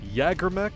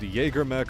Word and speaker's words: Jägermech: Jägermech and Jägermech are both admissible pronunciations.